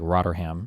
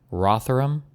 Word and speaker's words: Rotherham: girls in places like is it Rotherham? Is that am I pronouncing that or is like Roderham or Roderdam? You would say these things differently. Rotheram. Rotheram in the UK is what does Boner Bucks say?